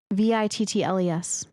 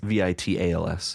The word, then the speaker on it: vittles: Vittles. I was misspelling it. Oh, shit. Were you spelling it Vidals? Vitals. Vittles. Vitals. Yeah. Oh, I've never heard it pronounced like that. Like vittles. Yeah, vittles.